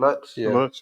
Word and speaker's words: Lutz: Lutz.